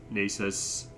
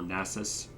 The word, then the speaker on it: Nasus: I would say probably least necessary is Nasus, or Nasus, actually. Sorry, pronouncing his name wrong.